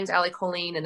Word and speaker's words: Colleen: say like alley choline colleen colleen colleen and on the back they say like jolene but with a c like we literally had